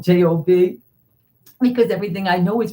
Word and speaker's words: Job: i'm in trouble today i know it's job not job but it doesn't matter